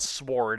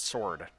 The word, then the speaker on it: sword: and now he's dead the W is silent Mega Man it's not sword it's sword come on now basic [